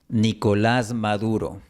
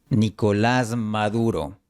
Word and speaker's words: Nicolás Maduro: Nicolás Maduro. La S de Nicolás se convierte en una Z. Esto pasa cuando la consonante S está antes de una consonante sonora, como Nicolás Maduro.